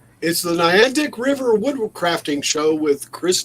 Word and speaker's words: Niantic: So Chris Nealon said he's waiting for me to pronounce Niantic. yeah, Is that Niantic? Niantic.